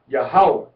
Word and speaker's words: Yahawah: Yahawah is pronounced by us as Yahawah without any vowel points.